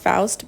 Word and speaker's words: Faust: I believe her last name is pronounced Faust, but forgive me if I'm mispronouncing it.